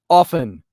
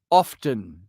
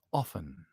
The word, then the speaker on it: often: two sentences it's pronounced often the t is silent it's not often i learned that as early as third grade english class the t is silent it's often there now let's get